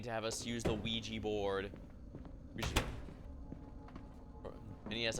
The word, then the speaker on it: Ouija: have us use the Ouija board. We should... And yes, I keep calling it that, even though I know that's not how it's technically pronounced. The curse of Ouija. You know, like W-E-E-G-E-E.